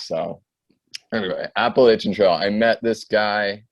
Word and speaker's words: Appalachian: the Appalachian Trail, and people have critiqued the way I pronounce Appalachian. I know people say Appalachian, but it's just my northern ways. So anyway, Appalachian Trail.